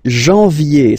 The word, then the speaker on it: janvier: But anyway, janvier. So that's the way to pronounce it. Janvier, A-N, en, okay? And then yé, yé, yé.